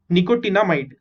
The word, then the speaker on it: nicotinamide: NiCO, निको, TINA टीना, MIDE might, निकोटिनामाइड।